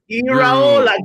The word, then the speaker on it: Iraola: It's Iraola.